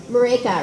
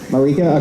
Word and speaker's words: Marÿke: Marÿke, rhymes with Jamaica. Marÿke?